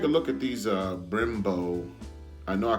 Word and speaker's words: Brembo: so let's take a look at these uh Brembo I know I call them Bimbo in the uh last segment they're actually pronounced Brembo plastic caliber covers which these are not the